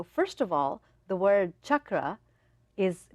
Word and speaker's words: chakra: of all the word chakra is pronounced chakra because it's the the Sanskrit words they are um they're they have different meanings the vibrations of it they shift so just like you say Chuck you know you can